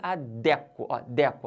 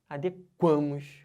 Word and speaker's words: adequamos: quero dizer com isso a sílaba forte não pode estar dentro do adeque se tiver forte aqui tá errado só pode ficar forte quando passa do radical por exemplo ó eu me adeco a sílaba tônica tá dentro não pode mas se eu falar assim nós nos adequamos ó pegando o ar na sílaba tônica aí já pode entendeu então o verbo adequar ele não pode ser falado com sílaba tônica dentro do radical verbo feder Eu cheiro